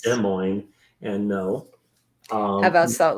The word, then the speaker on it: Des Moines: an answer to the previous question and it's pronounced Des Moines and no um about Salt Lake City right